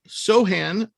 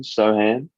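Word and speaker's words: Sochan: Jeremy Sohan. C is silent, folks.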